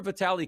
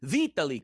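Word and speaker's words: Vitali: Like sometimes, like, remember Vitaly Klitschko? It was like, all right, the first name is actually Vitaly Klitschko. But you want to be big in America, and we don't say Vitaly.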